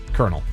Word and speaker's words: colonel: So again, these are the hardest English words to pronounce. It's a C word, and it's a military rank. Captain. Colonel.